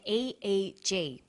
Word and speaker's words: EEG: that say the swinburn researchers he says an EEG that's an abbreviation we don't pronounce it e we say e EEG EEG